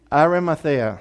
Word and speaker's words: Arimathea: Arimathea.